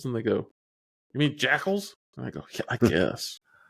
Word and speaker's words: Jackal: call them jacals yeah jaal what it say I know it's Jackal but I like saying jaal I was like I've